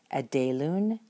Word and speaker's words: ἐδήλουν: uncontracted forms this way, so that the final pronunciation is going to be something like this. Edelun, edelus, edelu, edelumen, edeluta, edelun.